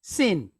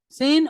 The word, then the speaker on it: Sin: so like I said dot over the left sounds like an s God over the right sounds like sh it and it's when it sounds like sh it's pronounced shin and when it sounds like s it's pronounced sin okay sin or shin so